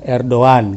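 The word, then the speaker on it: Erdoğan: nya seperti orang membaca Erdogan ya tulisnya Erdogan ternyata dibacanya er doang gitu termasuk Hagia Sophia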